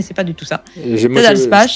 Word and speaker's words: Ted Alspach: C'est un jeu de Ted Alspach. Ah, tu le dis bien, hein. Moi, j'ai envie de dire Ted Alspach, parce que j'ai l'impression que ça se dit